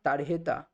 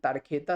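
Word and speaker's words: tarjeta: কিন্তু এই যে এডজেক্টিভের যে এন্ডিংটা আমারইয়া আমারিয়া কিন্তু আ এন্ডিং হচ্ছে কারণ তারহেতা বা স্প্যানিশ উচ্চারণের তারখেতা স্পেনের সেটা হচ্ছে ফেমিনিন জেন্ডার।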